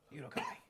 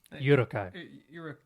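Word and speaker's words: Uruk-hai: How do you pronounce it? Urukai. Urukai.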